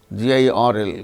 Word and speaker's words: girl: But when it is followed by a consonant sound, it is not uttered, as in case of certain, garden, girl, GIRL, girl.